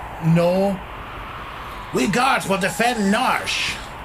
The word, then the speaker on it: Narshe: lead guards well defend narshe I was pronouncing our Shi as a kid because I didn't get